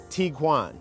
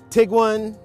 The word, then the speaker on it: Tiguan: there's a little confusion over how exactly to pronounce this vehicle's name so i looked it up and it is tiguan it's not tiguan it's not taiwan and don't try to google it because you're